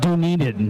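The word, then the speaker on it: Dunedin: right next to dunaden it's pronounced do need it that got clarified in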